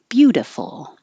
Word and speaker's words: beautiful: word sound not beautiful the T changes to a d the I changes to an uh beautiful Miss and this these